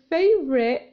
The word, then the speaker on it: favorite: I dropped your favorite. هنا يمكن عدم نطق حرف T وحبس الهواء في الحنجرة. هذا ما يسمى ب stop T.